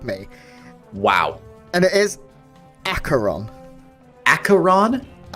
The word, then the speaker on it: Aqueron: housemaid to help me wow and it is acheron acheron it's not aquaron that's what i used to say and it's